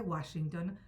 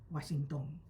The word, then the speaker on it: Washington: Habíase acostumbrado ya el anciano yabucoeño a pronunciar el nombre de Washington con el acento prosódico inglés. Pero al morir se llevó consigo la buena y legítima pronunciación de dicho nombre. Sus hijos leyeron el rótulo, pero como la pronunciación castellana hace agudas las palabras finales de aquella forma cuando no tienen acento en la sílaba antepenúltima, pronunciaron desde entonces Washington.